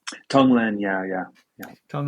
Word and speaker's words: tonglen: know it's what it's um and if I pronounce it correctly is it Tong Lang tonglen yeah yeah yeah Tong L and uh and